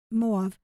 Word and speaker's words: Moab: that indicate that it moav will be Moab Moab we pronounce it usually will be spared for